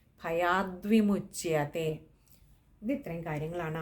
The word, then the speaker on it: ഭയാദ്വിമുച്യതേ: വിസർഗം ഉണ്ട് പിന്നെ ഭയാദ്വിമുച്യതേ അവിടെ ഭയാത് വിമുച്തയാണ് പക്ഷേ അത് പദം പിരിക്കേണ്ടതില്ല പകരം ദ്വ എന്നുള്ളത് അങ്ങനെ തന്നെ വായിക്കുന്നതാണ് ഉത്തമമായിട്ടുള്ളത് ഭയാദ്വിമുച്തേ ഇത് ഇത്രയും കാര്യങ്ങളാണ് ആ